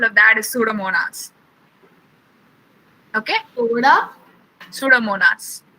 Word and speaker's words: Pseudomonas: Pseudomonas. The P is silent, so it's Pseudomonas.